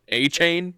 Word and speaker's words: Etienne: And then he's like, it's actually A-Chan. And everyone's like, but it's A-Chain. Yeah. And he's like, no, it's A-Chan. But now now Etienne is coming out saying his name's pronounced A-Chain.